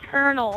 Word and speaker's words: Colonel: just say Colonial y I said Colonial cuz that's how you say it no it's not it's Colonel oh my God it's